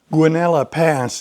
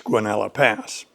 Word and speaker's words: Guanella Pass: Guanella Pass is the local pronunciation, even though there is a double L.